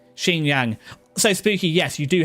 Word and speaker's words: Xinjiang: We're struggling with like it's pronounced Xinjiang.